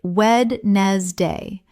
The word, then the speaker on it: Wednesday: The word Wednesday looks like w-e-d-n-e-s-d-a-y, but every native speaker says Wednesday.